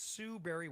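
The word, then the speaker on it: Sue Barry: Most people think berry is spelled like a fruit or Halle Berry, but no, it's Sue Berry with an A, like soul singer Barry White's first name.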